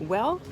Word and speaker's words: Güell: now in park well it's written g-u-e-l-l but it's pronounced well so welcome to parkwall everybody the construction of park well began in 1900 and it came to a halt in 1914.